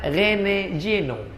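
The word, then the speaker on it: René Guénon: Tulisannya Reneguenon, Rene Guenon. Cara bacanya Rene Geno.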